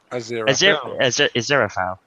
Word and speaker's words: Aziraphale: do you pronounce your name? Aziraphale.